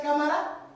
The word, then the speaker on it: Camara: Alors, pourquoi prononces-tu ton nom comme une personne qui bégaye, sachant que c'est Camara?